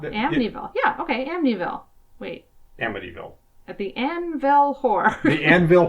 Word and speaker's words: Amityville: particular accent I have when I have a t in that place in the word I tend to pronounce it as a d AMD amville AMD Amityville Hill technically it's Amityville if we're being all